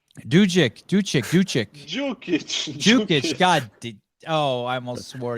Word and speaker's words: Dukic: You know how to say Dukic brothers. No, you were saying it correctly. Dukic.